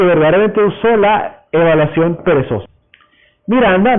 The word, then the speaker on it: Miranda: Miranda, normalmente pronunciado con la pronunciación en inglés Miranda, fue uno de los primeros lenguajes funcionales.